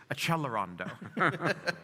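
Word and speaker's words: Accelerando: A, how many people love to write and say you're mispronouncing Xelerondo. You have to pronounce it in the right Italian way, which is Accellerando.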